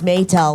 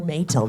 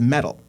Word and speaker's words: Meytal: You know what's funny is everybody mispronounces it as metal.